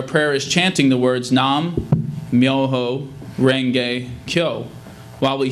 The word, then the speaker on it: Nam Myoho Renge Kyo: As SGI Buddhists, our prayer is chanting the words Nam, Myoho, Renge, Kyo.